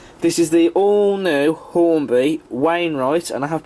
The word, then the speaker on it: Wainwright: This is the all-new Hornby Wainwright, and I have pronounced that correctly, H-Class, in the South East and Chatham Railway livery.